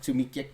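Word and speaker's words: tack: eating crow guarantee it how do you say thank you in Swedish that's too long I tuck tuck tuck tuck tuck yeah tuik thank you very much you say tuik so how do you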